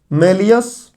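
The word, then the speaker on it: malleus: उसका नाम है मैलियस। कुछ लोग मैलिस बोलते हैं, तो अब प्रोनाउंसिएशन की समस्या यहाँ आती है, हिंदी नाम की जरूरत है नहीं। मैलियस।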